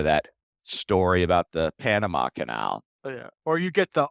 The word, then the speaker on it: Quesnel: offer it proactively right it's Canal qu e s n e l as opposed to them